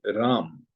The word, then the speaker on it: Ram: But in English, we always write a small a afterwards. Why? The reason being, it's not like, of course, our pronunciation should not be Rama. That is wrong.